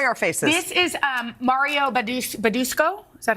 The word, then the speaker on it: Badescu: This is Mario Badusco. Is that how you say it? Badescu.